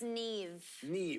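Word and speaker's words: Niamh: probably john it's it's neve yeah because the mh always makes a v sound a verse sounds right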